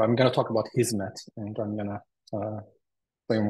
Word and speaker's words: Hizmet: And Hizmet is just a Turkish word, or actually an Arabic word that we pronounce this way, meaning service.